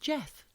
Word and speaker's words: Gef: Ultimately, it was revealed to be a talking mongoose called Jeff. Hi, Jeff. It's spelled GEF.